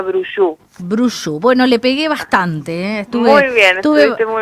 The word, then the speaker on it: Brouchoud: no sé francés pero mi apellido se pronuncia brush bruce bueno le pegué